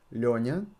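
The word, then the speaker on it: Лёня: they call me Leonia so try to pronounce it Leonia the problem with is that for foreigners it's difficult to pronounce nian try try to pronounce it yeah not Nia but can you hear the difference don't worry if you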